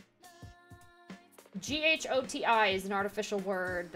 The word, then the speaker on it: ghoti: the word fish so GH pronounced f as in tough oh pronounced uh as